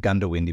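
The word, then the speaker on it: Goondiwindi: Although you're supposed to pronounce it Gundawindi, but half the people say Gundawindi because it's spelt G-O-O-N, but people just call it Gundy.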